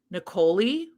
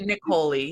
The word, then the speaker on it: Niccoli: So this is Given to the Ghoul by, I have a pronunciation here, Niccoli. Yeah. Because it rhymes with cannoli. That's Niccoli.